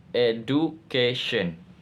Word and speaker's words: education: Stress pattern education. Explanation. The suffix eon enforce a stress rule that places primary stress on the preceding syllable over reading the original stress pattern of the base verb.